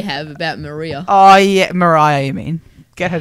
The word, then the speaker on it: Mariah: We can find more that says Maria.